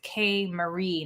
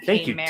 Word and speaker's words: K Marie: I do want to say again, I think I mispronounced it. It's K Marie, not K Mary.